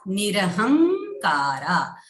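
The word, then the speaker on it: निरहंकारा: For example, Nishchinta Nirahankara. Ha is having Anuswara. which will be pronounced as this followed by ka. So the fifth letter of ka varga is nga. So we will say nirahankara.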